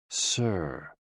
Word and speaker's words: si: associated with the heart s i pronounced like Sir with a slow exhale